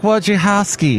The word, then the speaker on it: Wojciechowski: But they go with 4 syllables instead of the 1 syllable for Smith.